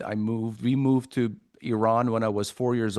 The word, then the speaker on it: Iran: Iran or Iran is is actually it's it's the spelling is incorrect. The spelling should be E R O N. So Iran.